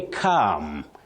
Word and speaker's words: calm: You say calm. Calm, not calm. Calm. That L is silent.